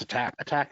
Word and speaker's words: ATT&CK: Is it attack? ATT&CK? You just say attack for that? Yeah, it's attack and defend, even though they put symbols in the names.